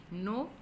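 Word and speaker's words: know: words में ठीक है नो आई नो इस्लाम कहते हैं कि मैं जानता हूं या जानते हैं नो का मतलब होता है जानना नोट यहां पर के साइलेंट इसमें ब्रिज में डी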